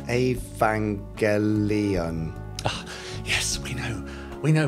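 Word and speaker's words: Evangelion: Jerry Anderson oh and it's pronounced a vangelion yes we know we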